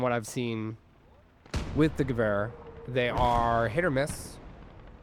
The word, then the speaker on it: Gewehr: Mountain snipers with the Gewehr are or Gewehr, I believe it's pronounced. Um my German friends in the comments can correct me if they like, but I do believe it's pronounced Gewehr.